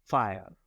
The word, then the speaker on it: FHIR: FHIR, Fast Healthcare Interoperability Resources, FHIR, pronounced FHIR.